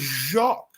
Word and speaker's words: Jacques: it up I pronounce jock right no no Jacques is Jacques and those were jocks difference they got the rough on their throat that's what I just